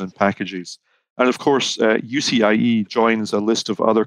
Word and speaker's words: UCIe: First up is the new industry consortium announced on March 2nd, the Universal Chiplet Interconnect Express Standard, or UCIe for short, rhymes with PCIe.